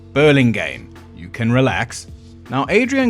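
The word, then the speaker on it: Burlingame: Paul's Parish in Berlingum. Hold on before you comment. I just checked. It's pronounced burling game.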